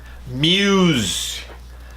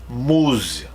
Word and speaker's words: Muse: and revelations great album Muse two syllables pretty close to a war two words that we have in Portuguese but we would say moose Musa Musa we don't say Muse black holes and revelations